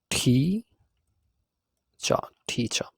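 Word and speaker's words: teacher: অনেক সময় হবে না সো এই আর টা এখানে আমরা উচ্চারণ করবো না সো আমরা উচ্চারণ করব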